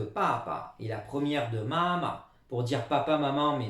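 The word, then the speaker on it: 妈妈: Alors, au niveau de l'étymologie, déjà, vous remarquez la prononciation en ma, de maman, hein, il n'y a que le N qui manque par rapport au français. Même chose que pour papa. Premier ton ici, pas le quatrième, mais le premier. Comme c'est deux fois la même chose, ça devient neutre ici. On insiste bien sur la première syllabe, mama, et on laisse couler pour la suite.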